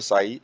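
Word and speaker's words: psi: Greek symbol पीएसआई जिसको फांसी बोलते हैं जिसमें साइलेंट है और साई का रिप्रजेंटेशन है एक्सप्रेस इन पर यूनिट और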